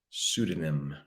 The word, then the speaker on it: pseudonym: Starts the P, but we pronounce that word pseudonym.